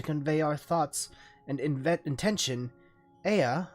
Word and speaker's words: Ea: When the vibration of vocal folds was still required to convey our thoughts and intention, Ea, I believe, was the pronunciation when referring to our people.